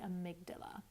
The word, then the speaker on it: amygdala: It took me a long time to actually figure out how to pronounce it, but it's the amygdala.